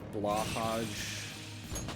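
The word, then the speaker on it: Blåhaj: Also, I mentioned this in the Discord, but I kind of want one of those, like, Blahaj, that's how you pronounce it, sharks from IKEA.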